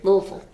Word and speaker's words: Louisville: Louisville. There, that's the proper pronunciation.